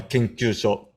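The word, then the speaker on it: 研究所: Then last 3 characters are Kenkyūsho.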